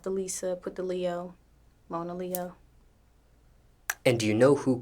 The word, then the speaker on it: Monaleo: Monaleo, People mispronounce this. constantly. What have you heard? Monello, like Mona Lisa, Mona Lea. It's crazy. People call me all types of shit, but it's pronounced Mona Leo.